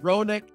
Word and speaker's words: Ronick: my business which is ironic chronic is the way to pronounce it well fair enough but